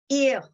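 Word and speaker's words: איר: So you had more hey in there for words like ihr, meaning you, plural. It was spelled with a hey, even though there's no hey in the pronunciation, no ha in the pronunciation, that has disappeared.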